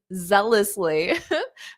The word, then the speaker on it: zealously: And you're right, it does sound like jealously, but with a zealously.